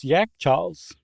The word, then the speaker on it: Yakhchāls: right the first time, they call their refrigerators Yakhchāls, which is how I would say it if I were in Iran.